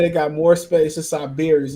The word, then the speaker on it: Sybaris: So it says that it got more space in Siberius. It's spelled Sybaris. They got multiple of the Midwest. Siberius is the name of it, y'all.